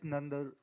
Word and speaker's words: Nandraj: But in terms of the performance, Pirdeep Nandraj, I'm pronouncing it correctly? Justice Nandar Jo.